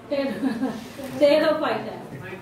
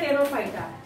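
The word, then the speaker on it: Pterophyta: टेरोफाइटा, P silent होता है यहाँ पे, टेरोप्सिडा या टेरोफाइटा। मैंने बोला तो अगर आपको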